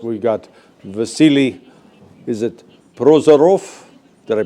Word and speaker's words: Prozorov: Is it Prozarov? Did I pronounce it right? It's right. Prozarov.